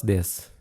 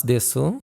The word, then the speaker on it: です: That's noun or adjective plus this. It's written as des, but it's usually pronounced as this. The ooh sound is brief and quiet.